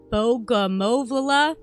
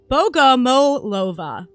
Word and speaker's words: Bogomolova: Let me say that again, because I always fuck it up. Bogomolova. Because you pronounce the O after the M harder than you do after the L-O. Like Lova, you wouldn't say that.